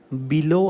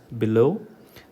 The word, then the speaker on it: below: Okay, അപ്പോൾ ഇത് below അല്ല. Okay, it is below, become, begin, believe, beside. Give primary stress to the second syllable.